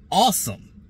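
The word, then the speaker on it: Asim: uh well it's spelled a Sim but it's pronounced awesome Richards from North Carolina he's six four three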